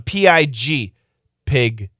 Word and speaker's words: pig: P I G. Pig pig. But if we stop it, pig pig.